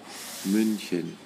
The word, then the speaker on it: München: se escribe otra vez m n c y münchen eso es la pronunciación en Do Cómo se pronuncia ahora es